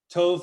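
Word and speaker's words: טוב: kotov katov that's it tov like uh mazel tov you've heard that phrase mazel tov that's actually mazel tov would be the more proper pronunciation uh cold tove is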